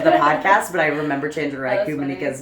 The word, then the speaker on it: Chenjerai Kumanyika: How do you say it name? Chenjerai Kumanyika.